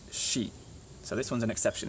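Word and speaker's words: し: This one should be si, right? But actually it's shi.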